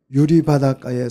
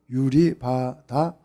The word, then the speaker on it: 유리바닷가: 유리바닷가에 서서, 자, 바닷가에서 이렇게 성경에 기록이 되어 있는데 맞춤법이 틀렸어요. 바다 밑에 시옷이 들어가야 돼요. 성경학자들이 자꾸 맞춤법을 많이 틀려가지고 제가 읽을 때마다 짜증이 나 죽겠어요. 발음을 못하잖아요. 유리바다가 이렇게 발음.